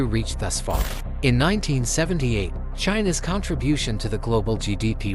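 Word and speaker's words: Qin: turn communist China on its head since then China has made extraordin dries and there is fuse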